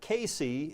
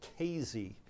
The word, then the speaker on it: Casey: Not Casey. That's how it's spelled, but it's pronounced Kazy.